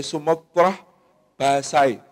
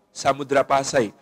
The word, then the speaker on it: Samudra Pasai: apa yang disebut sebagai sumotrah Pasai oleh Ibnu Batutah atau Samudra Pasai dalam pelafalan kita kata Sumatera dalam pelafalan kita hari ini merujuk kepada penyebutan dari Ibnu Batutah di dalam kitab arrihlahnya ketika menyebut Samudra Pasai sebagai sumatrah basai sumodra Pasai ini sebuah